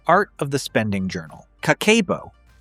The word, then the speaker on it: Kakeibo: Kakeibo, pronounced kakeibo, is a budgeting method developed in 1904 by Hani Motoko, Japan's first female journalist.